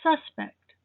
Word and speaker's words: suspect: alleged killer for example the stress is on the first syllable the suspect suspect is also an adjective meaning suspicious dubious questionable to suspect with the stress on the second syllable is the verb the